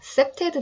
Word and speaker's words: CPTED: 다섯 번째, 셉테드 디자인 또는 셉테드라고 불러요.